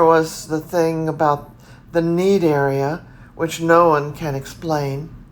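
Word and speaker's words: Cnidaria: called tinofera and a related phylum called nedaria need area really yes but it's spelled c-n-i-d-a-r-i-a and 1004 it's the related phylum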